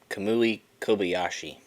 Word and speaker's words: Kamui Kobayashi: I said Kamui Kobayashi.